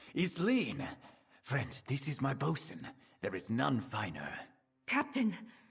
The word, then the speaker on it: boatswain: It's just bosun. Don't say boatswain. Do you skip that in between? Also Google Translate says bosun. And not boatswain.